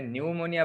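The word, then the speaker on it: pneumonia: তাহলে আমাকে একটু জানাই দাও, দেখো এখানে নিউমোনিয়া বানানটা কিভাবে লেখা হয়েছে। নিউমোনিয়াতে পি এর উচ্চারণটা সাইলেন্ট থাকে, এরকম অনেক কিছু আছে না?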